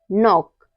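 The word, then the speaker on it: knock: के के बाद एन आए तो हमारा के साइलेंट रहता है जैसे है नॉक need knife no knee knowledge in सब में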